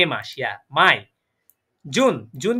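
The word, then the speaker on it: Mai: বলবো আমরা যেটা ইংলিশে মে বলি সেটাকে বলবো মাই ইয়া মাই আবার মাই মানে আমার না মাই মানে কি আমার না এটা হচ্ছে কি মে মাস ইয়া মাই জুন জুন কে বলবো ইয়া মাই মানে হচ্ছে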